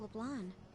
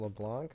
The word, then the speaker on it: LeBlanc: How about LeBlanc? Yeah, I've been calling him LeBlanc, but they said LeBlanc, so I guess the K or C is silent.